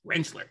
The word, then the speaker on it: Rentschler: Stafford and today I have with me renchler did I get that right you got it perfect renchler yes you gave me a pronunciation guide which grateful every day for that